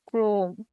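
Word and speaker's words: ক্রম: শব্দের প্রথমে অকার, পরে র ফলা থাকলে ও এর মতো উচ্চারণ হয়, যেমন ক্রোম, এর উচ্চারণ হবে ক্রোম।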